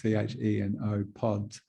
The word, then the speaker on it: chenopods: Spelt looks like it should be pronounced chenopods, C-H-E-N-O pods, but it's actually pronounced chenopods.